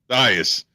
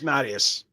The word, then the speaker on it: Mattias: I'm like, it's Matthias. No, it's Mattias. It's Mattias. I know. It's the Roman pronunciation, not Greek.